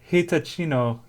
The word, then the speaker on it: Hitachino: I want you to try and pronounce this actually. Can you read that on the back? No. Wait. Michinimo Nest Beer. Oh, it's a H. So, Hitachino Nest Beer.